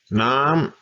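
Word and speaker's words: น้ำ: Nam, high tone, means water. Man, I'm thirsty. I sure need some Nam. Here's my normal speaking voice, and I throw that high tone on it.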